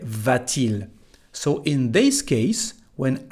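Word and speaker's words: va-t-il: letter T here well this letter T has nothing to do with grammar it's just to help the pronunciation bettering these two vowels a and I we don't say V but we say vtil so in this case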